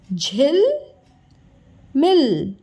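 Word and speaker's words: झिलमिल: झ में छोटी की मात्रा झी, तो बना शब्द झिल मिल। उच्चारण पे ध्यान दीजिएगा। झिल, झ में छोटी की मात्रा झिल, म में छोटी की मात्रा मिल। ओके, मी और ल, मिल, झिल मिल।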